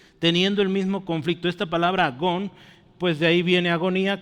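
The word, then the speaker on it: ἀγών: De hecho no perdón falta un acento aquí por eso es agón A qué le suena esta palabra agón agonía agonía agonizar entonces el mismo conflicto esta palabra agón pues de ahí viene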